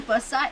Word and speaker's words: Busse: My name is Bussa. It's spelled Busse.